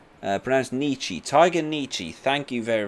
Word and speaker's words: Nietzsche: Pronounced Nietzsche.